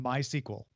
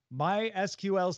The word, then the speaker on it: MySQL: that's again a sequel I have always said SQL and my sequel because it's more words with my sequel and it felt easier but I'm wrong my sql's technical doc says it should be MySQL there is no consensus